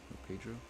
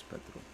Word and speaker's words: Petro: Oh, Pedro? Pedro. Wait, no, Petro. It is Petro. I did pronounce it right.